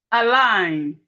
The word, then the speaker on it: align: When we have G and N, the G is silent.